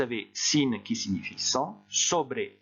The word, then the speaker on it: sobre: Ensuite, vous avez sin qui signifie sans, sobre, on prononce bien le E final, sobre qui signifie sur, et plein de choses qui seraient à apprendre par cœur.